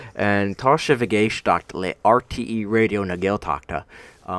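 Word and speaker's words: Raidió na Gaeltachta: Casa Vega shockula RTE radio na gaeltachta see I did it so perfectly just there you know I that's how you say it it basically means you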